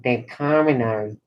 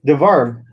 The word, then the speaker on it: Devarim: Determinary. Not determinary, determinary. No, you said it wrong. It's devarim.